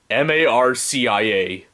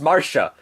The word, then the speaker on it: Marcia: you m-a-r okay c-i-a m-a-r-c-i-a hmm yeah that does look like it's pronounced marcia to me yeah but it's not it's pronounced marsha wait if it's martial